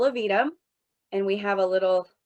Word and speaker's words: Aevidum: roll out this year it's pronounced little of edam and we have a